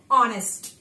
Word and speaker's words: honest: of those nouns like honest, arm, air, honorable. Okay, why we don't read it as honest? How we pronounce it properly? Honest. Why honest? Because here H is silent in all these words.